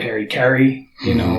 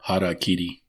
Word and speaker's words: harakiri: whether that be through Harikari, or dying in battle. Harakiri. Is that what it is? Well, that's the correct pronunciation in Japanese.